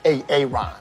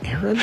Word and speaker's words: Aaron: you say it the first time I said a Aon because it's pronounced Aaron son of B you done M up a